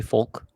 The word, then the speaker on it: folk: yeah because then uh I also say folk like I say the L and that yeah um